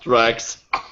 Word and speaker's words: Drax: And it's pronounced Drax.